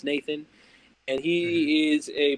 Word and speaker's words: NTHN: It goes by it's spelled NTHN, but it's pronounced Nathan.